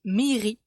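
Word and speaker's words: mýri: wasquehal aujourd'hui on voit le mot marais qui se dit mehiri pour une fois soyons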